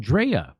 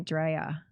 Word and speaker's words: Drea: Now, Dre, your name is spelled Drea. But it's short for Andrea, but everybody calls me Dre. Oh, everybody just calls you Dre. When people don't really know me, they call me Drea.